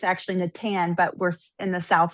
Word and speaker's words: Natan: You know, how do And then I saw that Natan, it's actually Natan, but we're in the south, so that wasn't going to flow. So we pronounce it Natan.